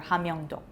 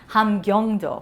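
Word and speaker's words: 함경도: Pyongan Province, or Pyongan-do, and the other one is Hamhung, which is in Hamgyong Province, or Hamyongdo. Hamgyongdo. Don't say it wrong, please, Maggie. Don't mispronounce things.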